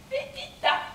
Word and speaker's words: Pépita: Pépita. Pépita? Eh oui, comme ça se prononce.